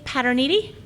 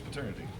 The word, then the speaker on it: Paterniti: Paterniti. Did I pronounce that correct? You did. Good. Thank you. Usually it's paternity.